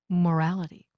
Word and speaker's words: morality: The stress for these suffixes happens on the syllable just before this two-syllable suffix. Listen. Moral, morality.